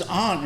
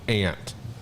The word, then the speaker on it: aunt: the i know but he says ant and i've never heard well because if you look at the way it's spelled you can throw that out there it's not give me a break your mom is not an ant aunt even though that's how we say it mm-hmm the white it's